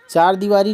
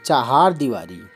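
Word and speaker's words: चहारदीवारी: फिर दी वा री चार दीवारी नहीं होती है चहार दीवारी चहार चहार यह याद रखिएगा चहार दीवारी अभिजात आभ जात होता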